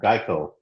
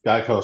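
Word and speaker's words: Gaokao: um in China they have an exam called GEICO okay that's spelled G AO K AO Yeah, which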